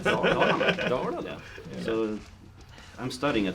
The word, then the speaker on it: Dalarna: Dalarna.